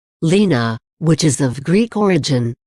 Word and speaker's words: Lena: to be more adventurous than say William it's pronounced Lena we chose it because it's a name we both like it's also similar to Mia's because it's distinct not shortened from another name Lena which is of Greek origin means sunshine meanwhile